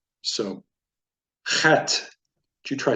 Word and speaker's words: Het: So as we see down here, Het is pronounced like the CH in Bach. It is a guttural, pronounced as if you were clearing your throat. So, Het.